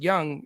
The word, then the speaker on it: Jung: Josh Young the uh Jung but it's pronounced young is uh only 2.2